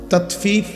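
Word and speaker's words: تطفيف: তাতফিফ বাংলা শব্দটা বুঝছেন উচ্চারণটা ত আকার তা তত ফ দীর্ঘিকার ফি ফিফ এই তাত ফিফ এই হলো শব্দটা অর্থ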